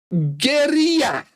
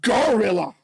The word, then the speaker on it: Guerrilla: Guerrilla, because it's a fucking Spanish word. I didn't invent it. I'm just saying it how you should pronounce it. Guerrilla, and not gorilla, like you would pronounce it.